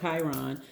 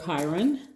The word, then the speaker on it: Chiron: to be talking about chiron or chiron however you want to pronounce it either way is fine but it is a